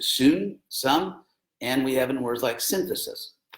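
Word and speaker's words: σύν: The Greeks spelled it S-Y-N and pronounced it sun, some, and we have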